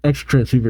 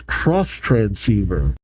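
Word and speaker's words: X-Transceiver: not EXT transceiver it's cross transceiver okay thank you for that clarification I keep forgetting that that's how the Japanese will do it either that X is not pronounced or they pronounce it cross okay everybody wants a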